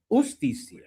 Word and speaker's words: justicia: Justicia. So, to not pronounce the J like a J, but to pronounce it like a H in English.